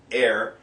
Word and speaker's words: her: Hin und her, it's H-E-I-R, air.